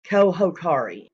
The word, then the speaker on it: Cojocari: But I did want to get the correct pronunciation out there, which is Cojocari. Okay, the J is pronounced as an H.